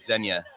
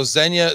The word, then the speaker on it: Zenya: and manage it efficiently so zenya spelled like Kenya with a z that's right yeah z-e-n-y-a all right now it's